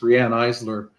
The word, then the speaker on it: Riane Eisler: And it's an interesting book, so I'm just plugging it a little bit, and also clarifying that it's Riane Eisler is how she pronounces her name, and she's really quite a woman.